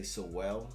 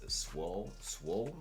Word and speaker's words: Sowell: I want to say Sowell. Right. But if you merge it together, it's Swole, Right.